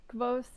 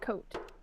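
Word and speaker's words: Kvothe: I think that you can either pronounce it Kvoth or Coat, depending on which book you've read.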